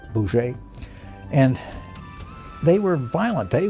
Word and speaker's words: Bose: There were the Gandhi types, who were nonviolent, and then there was a Chandra Bose, who it's spelled B-O-S-E, but it's pronounced something like Boucher.